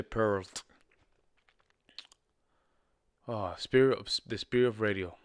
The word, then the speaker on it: Peart: Instead of Pearl, you say Peart.